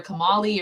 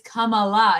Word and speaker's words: Kamala: episode he called her kamali or whatever he called her and she goes it's kamala he's like huh huh